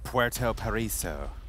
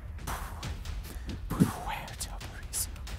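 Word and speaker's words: Puerto Paraíso: Puerto Paraiso. With the accent? Puerto Paraiso.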